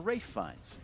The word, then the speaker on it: Ralph Fiennes: Charlize Theron Matthew McConaughey and Ralph Fiennes or Rafe finds rape I know I know understand hey get